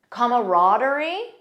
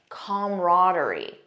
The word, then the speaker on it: camaraderie: Camaraderie or camaraderie. Notice the first pronunciation has an extra sound, comma, camaraderie. The second one just says camaraderie. Most American speakers, in my experience, say camaraderie. That's the one that I personally use.